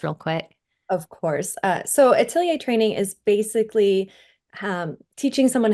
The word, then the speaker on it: atelier: Yeah, so Mandy is an expert in atelier training and art education.